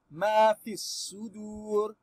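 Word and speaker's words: ما في الصدور: Then su, the Alif al-Wasli and lamu we jump them because they are silent letter. We say ma fi sudur sudur. Aha. This waw maddi saying draw the letter before me, meaning we should prolong this dalil dhamma.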